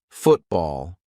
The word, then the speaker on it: football: for the glottal T when a syllable ends in t and it is followed by a consonant sound we're going to use the gladle stop for example football I'm not saying Football let's play football now I'm saying football okay now some people